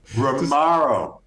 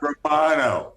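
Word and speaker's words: Romão: Romaro. Not Romano.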